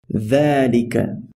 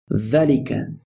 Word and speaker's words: ذَلِكَ: Although ذَلِكَ is written like this, it is pronounced as though it were written like this. So we say ذَلِكَ. It would be incorrect to say ذَلِكَ, and sometimes you will